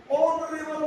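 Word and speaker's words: honorable: ओरेबल मैन इसमें H silent है।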